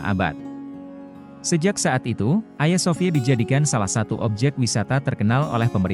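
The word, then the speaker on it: Ayasofya: pun diubah menjadi Istanbul Hagia Sophia disebut Ayah Sofia dalam pelafalan Turki diubah menjadi masjid kekaisaran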